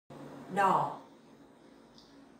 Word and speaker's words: đỏ: đỏ, đỏ. Here the tone is dấu hỏi, so you have to pronounce very carefully.